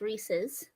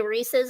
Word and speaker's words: Reese's: do you all say Reese's or Reese's Reese's Reese's Reese yeah Reese's you know it's the correct way because Reese's Pieces it rhymes yes that's how you know that's how you say it Reese's it's not Reese's